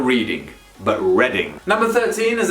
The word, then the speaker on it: Reading: up northern from london it is pronounced reading you've probably heard of the reading festivals that's where they take place reading not reading but reading number 13